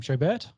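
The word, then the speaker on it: Schobert: joe how do you say his last name show bert yeah yeah yeah uh inside linebacker played for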